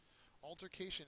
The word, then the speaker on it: altercation: uh it's a noun third syllable is accented uh synonym is quarrel